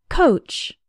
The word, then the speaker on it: coach: The letters OA simply have the sound of O, like in the words no, so, boat, and coat.